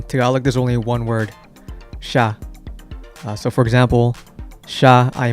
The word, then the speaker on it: siya: On a side note, an interesting thing about the word siya is that since it sounds like the word she, when you hear a native Tagalog speaker speak English, they might say she when they mean he.